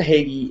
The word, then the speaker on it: Hagy: i've got a special guest um so jessica hagee is and i'm not even sure i'm pronouncing your name right jessica yeah you're good